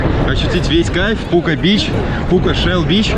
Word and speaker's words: Пука Shell Beach: Поэтому, конечно же, чтобы ощутить весь кайф Пука Бич, Пука Shell Beach, как полностью произносится название этого пляжа, нужно приезжать сюда самостоятельно и желательно подольше, а не на полчаса, как мы.